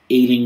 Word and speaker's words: Ealing: But it's actually set in Ealing. Ealing rhymes with dealing.